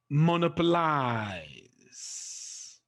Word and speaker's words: monopolize: Rule 11, words that end with the letters IZE or ISE. The stress is placed on the third syllable, just like the Y sound, okay? From the end. For example, monopolize, okay?